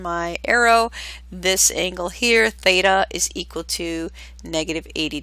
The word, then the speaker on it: theta: And moving on down to the last section, find a coterminal angle with a measure of theta. Again, and I just want to spell that out for you.